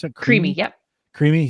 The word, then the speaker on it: Creami: Is that how you pronounce it? Creami.